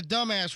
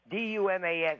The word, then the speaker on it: Dumas: Is this the dumbass residence? This is the Dumis residence. It's not dumb ass. D U M A-S is pronounced It's a French name and it's pronounced Duma.